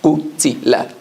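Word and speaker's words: قُتِلَ: Qaf, Dhamma, U. Ta, Kasra, Ti. Lam, Fatha, La. Qutila.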